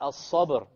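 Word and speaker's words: الصبر: Before it is silent. But before the silent is a fatha. Likewise, al-sabr.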